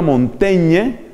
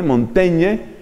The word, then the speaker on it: Montaigne: que mencionar por ejemplo a montaña que se escribe montaigne montañe que empieza a escribir